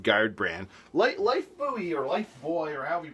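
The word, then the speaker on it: Lifebuoy: Life Buoy or Life Boy or however you pronounce it. I heard it pronounced Life Boy, but I always called it Buoy. Oh, there's a big one right here. Life Buoy.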